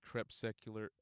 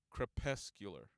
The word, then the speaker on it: crepuscular: You guys can check the link, and we're gonna go into what Crepuscular is.